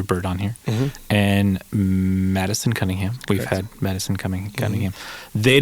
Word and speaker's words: Cunningham: So they came together and recorded the whole album, and because Cunningham rhymes with Buckingham, they decided to call it Cunningham Bird, and that's the album name.